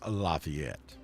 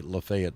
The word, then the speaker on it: Lafayette: that's pronounced Lafayette Lafayette Square in LaGrange is pronounced Lafayette don't ever go to LaGrange Georgia and say Lafayette Square you'll get run out of town so